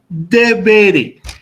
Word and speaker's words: deberé: Entonces, esta palabra no se va a mencionar como debere, ni como debere, sino como debere, con acento en la penúltima sílaba.